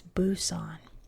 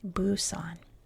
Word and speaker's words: Busan: Now, number one is that I always pronounce places around the world in their American English version, right? So that everything is uniform. And in American English, it is buson.